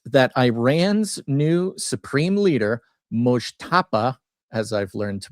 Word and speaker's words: Mojtaba: So, anywho, the headline: Trump briefed that Iran's new supreme leader, Mojtaba, as I've learned to pronounce it, Khomeini, is probably gay.